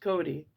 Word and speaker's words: Cote: On the other hand, there was Mrs. Cote, pronounced Cody.